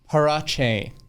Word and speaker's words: Parache: everyone's favorite co-worker here at madison mortgage parache thank you ben how is my pronunciation it's perfect you're lying okay but but